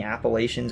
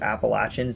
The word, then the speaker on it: Appalachians: a spot in the appalachians or appalachians the pronunciation really depends on where you live where it makes a